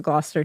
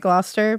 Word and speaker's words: Gloucester: Massachusetts has a Gloucester too, and we say it Gloucester, but I was like, do you guys say it Gloucester or something? Gloucester. I I wish they did. So Gloucester, UK police received an